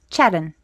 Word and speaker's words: Sharon: So when he says my name, when he says Sharon, well, he doesn't say it like that. He says Chedden.